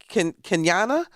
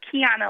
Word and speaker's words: Kiana: Let's go to Kenyana. Am I pronouncing that correct? From Newport News? It's Kiana. Oh, Kiana.